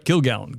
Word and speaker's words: Kilgallon: Kilgallen.